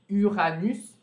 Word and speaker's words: Uranus: Uranus, a gente pronuncia esse S excepcionalmente.